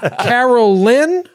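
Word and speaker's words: Caralyn: Is it Carolyn or Carolyn? Carolyn, like, but it's spelt not like Caroline. It's C-A-R-A, Carolyn. So I want to make sure I really hit that second A.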